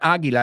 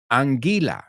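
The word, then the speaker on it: anguila: I used to say I used to mix it up with eagle Aila okay but it's not Eagle it's not agila it's angila see what happened there I'm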